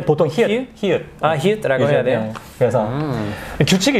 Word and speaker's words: 히읗: Just, 보통 히읗은 잘 발음 안 하는데 시옷 받침으로 발음할 때도 있어요. 이럴 때 보통 히읗.